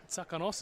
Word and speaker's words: Tsakonos: So I said Tsakonos. So just for those people at home, yeah. So Tsakonos is correct?